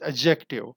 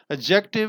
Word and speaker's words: adjective: number 33 and Ty but D is silent you will pronounce it as adjective adjective and its types first